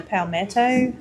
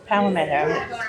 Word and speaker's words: palmetto: So I got the blackened and the palmetto. Palomito.